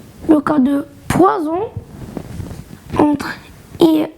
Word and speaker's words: poison: la dernière, qui est on prononce le SZ seulement quand il est entre deux voyelles.